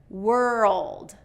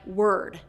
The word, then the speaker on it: world: World, world. So if you don't get that dark L in there, it's gonna sound like word, word.